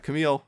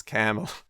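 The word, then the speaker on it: Kamil: I'm like, no, it's not Camille, it's Camel. The Arabic is very, the way his name is written in Arabic, it's unambiguous. The long syllable is the first one.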